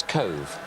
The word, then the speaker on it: Cobh: season from nowhere really can you pronounce where he came from De yes Cove Cove Rangers cobh down in the south of Ireland most impressive a lovely